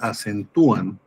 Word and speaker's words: acentúan: Bueno, la sílaba tónica está en tu hacen tuú. Está en la penúltima.